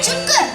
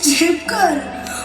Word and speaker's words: Chipkar: Arey Chupkar, what happened? It's Chipkar.